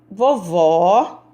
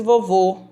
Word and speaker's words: vovó: letra d e a vovó gosta de ouvir música no rádio enquanto faz tricô a vovó eu não disse vovô povo é fechado tá vendo sonhar vovó aberto então eu já vou